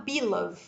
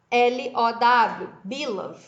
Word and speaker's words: Bülow: Essa teoria foi pensada por um sujeito chamado Bilov, que se escreve B-U-L-O-W, Bilov.